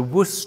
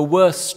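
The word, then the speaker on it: WOEST: Firstly, I wish to mention the WUS trial or depending on your pronunciation, the worst trial.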